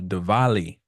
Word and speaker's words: Diwali: This is a special day, a special week, because today is the start of Diwali. It's spelled Dwali, but the Diwali, Diwali festival, the festival of lights.